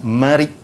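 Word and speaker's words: مريء: Di sebelahnya, depan dan belakang tu dia ada satu dia panggil urat marik. Ejaan dia marik, mim, ra, ya, hamzah.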